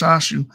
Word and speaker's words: Shasu: Sociologically besides the the city dwellers in the Aparu Haparu, the Shasu pronounced Shashu also played an important role in the late Bronze Age and are frequently mentioned in the Egyptian text.